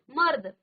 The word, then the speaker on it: मर्द: ऐसे ही मर्द मर्द तो द बाद में आया र पहले आया उच्चारण पहले हुआ द से पहले ठीक है लेकिन लगा